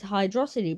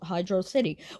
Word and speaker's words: Hydrocity: it's more like hydrocity it is hydrocity by the way not hydroc City why do you think